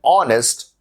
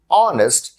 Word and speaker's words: honest: person an honest person honest starts with h a consonant but we must use the article an because the h in honest is silent and the word starts with a vowel sound a is used before